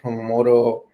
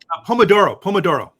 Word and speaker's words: Pomodoro: I forgot how to pronounce it. Promoto, where you take breaks basically on every. Pomodoro. Exactly. Yeah.